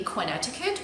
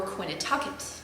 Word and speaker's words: Connecticut: It could be Connecticut or Quinnatucket. All depends.